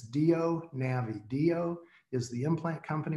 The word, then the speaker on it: DIO: of a funny pronunciation do is just D o do but it's spelled di o so just drop the I and it's do navi do is the implant